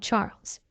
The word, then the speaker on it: Charles: while looking directly at Charles You Are So considerate my dear husband she replied Charles pronounce the French way charl looked like typical Euro